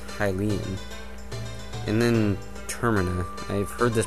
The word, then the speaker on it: Termina: make much sense either i really think it's supposed to um i think it's supposed to be um accented on the first syllable and so it should be termina be you know as